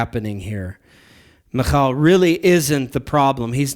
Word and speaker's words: Michal: and they'll pronounce it Michael. I've probably even done that before, but it actually is pronounced Michal. Now, if you don't want to do the Hebrew guttural, then you would pronounce it Michal.